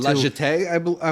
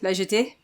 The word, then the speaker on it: La Jetée: La Jetée, I want to say.